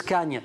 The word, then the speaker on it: Khâgne: à l'origine barbare par quand je prononce Cagne moi d'ailleurs je confessais ça je l'écrivais Cagne C gne parce que je savais pas du tout et en fait les préparationécrrivent KH a accent circonflexe g ça vient d' alors